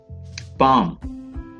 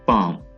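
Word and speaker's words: palm: पाम, next word is पाम, एल is silent, पाम हथेली, हथेली।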